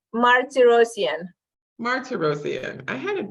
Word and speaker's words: Martirosyan: please is that your last name no it's Marty rosian Martin I had it right one time so